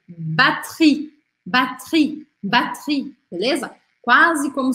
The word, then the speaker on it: batterie: Batterie, batterie, batterie.